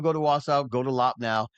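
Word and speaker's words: Loppnow: Um, so if you get a chance, if you ever go to Wasau, go to Lopnau. Lopnau, I think it's spelled uh, yeah, I do have it right here, I think.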